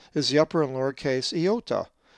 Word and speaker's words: iota: The ninth letter of the Greek alphabet and fourth vowel is the upper and lowercase iota, which is always pronounced as E in C.